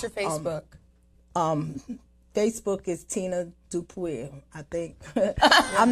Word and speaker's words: Dupuy: And that's spelled D-U-P-U-Y. Yes, it's French. Yes, Tina Dupuy. Yes. Yeah. And Dupree is fine, which a lot of people call me.